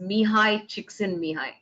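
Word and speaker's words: Mihály Csíkszentmihályi: looking for for flo his name's pronounced says mihai chiksin mihai so uh you said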